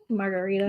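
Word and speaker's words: Margherita: So the answer is It's margarita. Margarita. But it's spelled like that.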